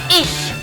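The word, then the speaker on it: ich: звати Анна я зовусь Анна говорять німці Отже іщ звук не іщ грубий а з звук м'ягкий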